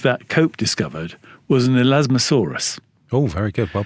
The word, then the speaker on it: Elasmosaurus: So one of the things that Cope discovered was an Elasmosaurus. Oh, very good. Well pronounced.